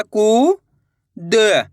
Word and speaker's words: कूद: बड़े ऊ की मात्रा कू द, तो मिलके बन जाएगा कूद। कैसे पढ़ेंगे? कूद। ऐसे नहीं पढ़ना, कूद। अगर आप कूद पढ़ दोगे तो छोटू ऊ की मात्रा का उच्चारण हो जाएगा।